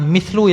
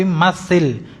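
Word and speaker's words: مثّل: Berikan contoh ini bukan mlu ya bacanya tapi matil fi'il amr.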